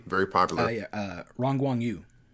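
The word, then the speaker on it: Yu Rongguang: the guy, can you tell me how to pronounce his name? Who actually plays Iron Monkey? Very popular. Oh yeah. Uh Rang Guang Yu.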